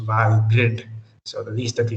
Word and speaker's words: Valgrind: thing though the first time i heard about valgrind i thought it was pronounced val grind because it has grind in it but i recently learned that it is pronounced while grid so the least that you can do for